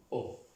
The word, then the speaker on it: eau: La EAU, O. Ya, con la EAU, el ejemplo. Vamos. Y la palabra, sí. La palabra agua. Estas tres letras, estas tres vocales suenan O. Agua se pronuncia O.